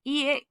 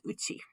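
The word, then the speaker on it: 家: Pronounced ie, pronounced ka, pronounced ke, pronounced uchi. Sometimes pronounced ya even.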